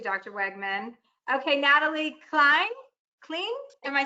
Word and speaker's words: Klein: Clean? Am I saying it right? Clean. Klein.